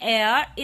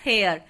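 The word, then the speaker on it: heir: है consonant H से, बट इसको हम प्रोनाउंस करते हैं एयर इंस्टेड ऑफ हेयर, तो देयरफॉर आर्टिकल एन यूज होगा हमारा विद एयर, एन एयर।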